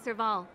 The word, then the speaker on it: Serval: The name's Serval. Serval. I'm the owner of this workshop. Sorry, I've been mispronouncing your name.